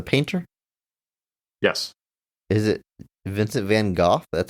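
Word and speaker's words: Van Gogh: it's not van go it's not van go any joke about van go is wrong it's just a dumb American thing just not looking up how how she pronounce it and you're hanging your hat on this it's van goof it's van goof okay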